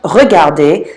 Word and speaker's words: regardé: And it's pronounced regarder. It sounds just like the infinitive.